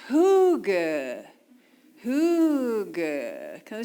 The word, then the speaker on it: hygge: So when you see that word, it sounds like higgy, right? It sounds like it should be pronounced higgy.